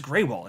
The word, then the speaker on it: Grewal: Or wait, no, it's pronounced Greywall, isn't it? It looks like Gruel, Grewal. I haven't thought about his last name the right way to say it in a long time. It's Greywall. I'm almost certain of that because I didn't know